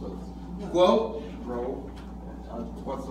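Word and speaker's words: 国: In English, how do you say that word grow or go, or you mentioned several times it's a Guo. grow? What's the letters? It's Guo.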